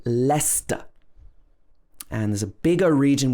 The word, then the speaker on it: Leicester: that it's actually st for example lester this is not lyster or lychester it should be lester and there's a bigger